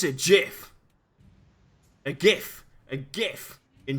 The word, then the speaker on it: GIF: Do you pronounce it with a hard G or with a J sound? You asking me? Yeah. I pronounce it with a hard G. It's a GIF.